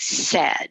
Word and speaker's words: said: those irregular words like said because it's s-a-i-d but that's not the way it sounds it sounds like s-e-d short e so we do see